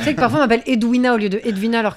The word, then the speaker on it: Edwina: C'est un W et ça se prononce Edwina.